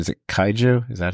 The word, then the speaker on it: kaiju: What's the pronunciation? Is it kaiju? Is that how they say Yeah, it? kaiju.